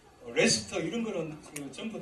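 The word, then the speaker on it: Leicester: 유나이 체스터 카스터 뭐 레스터 이런 거는 전부 다 세스터 시스터 이런게 옛날에 로마시대때 경이 있던입니다 그걸 스라 그어 그러니까 체스터 이 이제 라이스터 원래 라이스터 레스 레스토라 발음하지만 이런 거는 다 어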